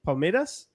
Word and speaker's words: Palmeiras: Is that how you pronounce it? Palmeiras?